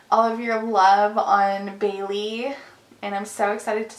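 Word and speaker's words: Baylee: like when somebody asks, they're like, oh, like Bailey's and coffee. I'm like, sure, but it's not spelled that way.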